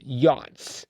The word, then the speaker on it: yacht: That ought to be pronounced Yak. Yak. German. Yak. Yakas. Yakas. Very hard to say, which is probably why they said, you know what, let's just say yacht.